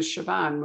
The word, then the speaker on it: Siobhan: now i get it i get confused with siobhan which you know i've only learned to pronounce for me and reagan otherwise i'd still